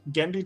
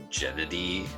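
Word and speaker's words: Genndy: tartakovsky every week uh i didn't even know that's how you said it i thought it was like gennady or something so i'm probably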